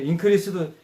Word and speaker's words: increase: 그 increase도 increase 이러면 증가 increase 하면 증가하다. 한번 따라서 해 보세요. increase. Increase 이거 동사로 발음한 갈까요?